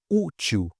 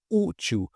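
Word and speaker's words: útil: Aqui também, olha, ú til, ú til. A gente separou em duas sílabas, que é o correto. O u aqui, olha, é a sílaba mais forte.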